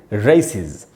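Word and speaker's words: races: तो दोस्तों, इस वर्ड को सी पर ही खत्म हुआ मानेंगे, RACE में, क्योंकि ई का उच्चारण नहीं होता। और इसमें जब एस लगाएंगे तो इसको पढ़ेंगे रेसिज। अच्छा दोस्तों, ये ई क्यों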